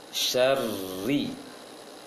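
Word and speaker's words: شَرِّ: Seharusnya syarri. Seperti baca R bahasa Indonesia tipis. Syarri. Jangan syarri. Jangan syarri, tapi syarri. Syarri. Getarkan saja syarri bacanya.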